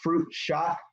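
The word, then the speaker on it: chaat: The fruit, what we call, it looks like it's spelled fruit chat, but we call it fruit shot.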